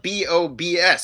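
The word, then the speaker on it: Bobs: ah here we go it's called boobs in munich uh boobs but it's spelled b-o-b-s so i pronounce it we pronounce it bob's here uh but you're going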